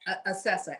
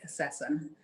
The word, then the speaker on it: Acessa: Acessa, ACE, S is in Sam, S is in Sam, Acessa.